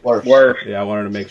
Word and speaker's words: Wirfs: Wirfs.